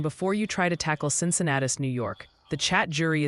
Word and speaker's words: Cincinnatus: Oh, and before you try to tackle Cincinnatus, New York, the chat jury is in. It's pronounced Cincinnatus or Cincinnatus.